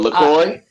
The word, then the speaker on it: LaCroix: it is LaCroix.